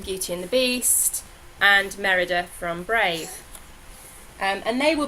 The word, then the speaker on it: Merida: And then finally I've got Merida, which I pronounced right. I keep trying to call her Meridna, and I know that's not right. It's Merida. So Merida from Brave.